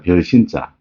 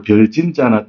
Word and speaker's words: 辰: 별신자. 이 보편적으로 별진자나 떼신자라고 얘기하는데 신의 세계에서는 별신자라고 읽으라고 하셔서 제가 별신자라고 하는 겁니다.